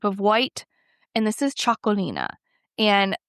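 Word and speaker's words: Txakolina: And as I say it, it looks nothing like what how you say it when it's spelled. It is tx a k o l i n a. It's also sometimes called chakoli. And then that's just doesn't have the IA at the end.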